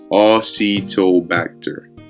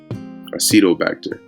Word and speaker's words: Acetobacter: we get this right pronunciation octobacter acetobacter acetobacter okay acetobacter um so going back